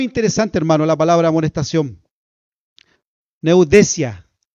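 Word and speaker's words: νουθεσία: Neudesia, así se pronuncia, neudesia, que significa un llamado de atención o reprensión seria.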